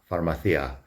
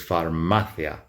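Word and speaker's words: farmacia: It is not pharmaththeia. It is pharmathia.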